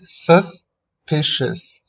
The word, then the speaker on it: suspicious: the three letters C I Oh would be pronounced as shell so this word is called suspicious suspicious what does it mean doubtful doubtful take